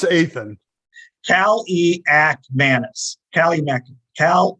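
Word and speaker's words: Kaliakmanis: to their uh say okay here it is pronunciation guy uh that's eighth a fan I know it's Ethan Cali act Madness Cali Cal e act Madness redshirt freshman and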